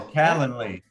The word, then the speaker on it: Calendly: game play we're going to start using uh calendly is that how it's pronounced Jason yeah Canon Lee uh say that like three times fast uh so calendly we're gonna start using that and once we